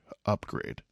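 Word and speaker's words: Upgrayedd: it could have oh it's oh upgrade upgrade upgrade but it's spelled up PG r a y e d d upgrade so yeah that's quite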